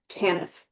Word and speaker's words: TANF: temporary assistance for needy families, which is called TANF. And that's how it's pronounced for some reason.